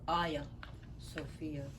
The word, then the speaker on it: Hagia Sophia: And it's spelled Hagia, but it's pronounced Aya Sophia.